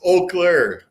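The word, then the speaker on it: Eau Claire: Martin told me that I had heard it pronounced two or three different ways during the last week and uh this Oak Clair said the E silent on that right right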